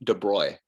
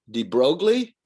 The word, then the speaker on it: de Broglie: nobleman louis de bruy it rhymes with destroy it doesn't look like it would be spelled de bruy but that's pronounced de bruy but that's how it